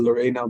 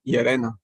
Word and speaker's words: Llerena: It's I learned to pronounce it Lorena, but it's actually Llerena.